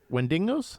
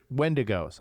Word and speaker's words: Wendigos: Wendingos. Is that windo? Wendigos. Okay. They were starting to turn into those wendigos.